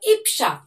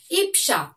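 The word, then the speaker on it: ঈপ্সা: তাহলে কিন্তু তোমাদের উচ্চারণটাও সঠিক হয়ে যাবে তাহলে উচ্চারণটি কি হলো ইফসা দেখো বানানটি দেখো প্রথমে দীর্ঘই তার সঙ্গে প তার নিচে দন্তস দীর্ঘ পয় দন্তস এ আকার তাহলে কি হলো ইপসা দীর্ঘই পয় দন্তস এ আকার ইপসা এই ইপসা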